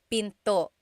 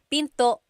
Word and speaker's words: pinto: Door in Tagalog is pinto pinto. And remember, don't forget the glottle stop. Don't forget to stop the sound at the end. That's called a glottle stop. Pinto.